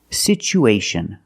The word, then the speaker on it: situation: pronunciation for this word we see that t as a second syllable with Tua so we pronounce it with the CH sound it's pronounced situ situation one situation or two situations so the second syllable is the long o like Boot and moon situ situation we have